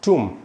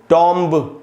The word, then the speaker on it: tomb: तो दोस्तों ये जो वर्ड है TOMB, इसको पढ़ेंगे टूम, टूम, इस प्रकार से पढ़ना है टूम। इसमें बी साइलेंट होगा और ऊ का साउंड आएगा, टूम। इसको टॉम्ब इस प्रकार से नहीं पढ़ना है।